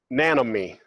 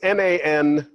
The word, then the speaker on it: Nanome: The molecule, it's called Nanome. So it's N-a-n-o-m-e. And I've heard it pronounced Nanome as well but I don't know how they pronounce it actually.